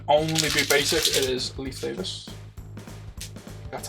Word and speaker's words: Leif Davis: It is Leif Davis. That's how you pronounce his name.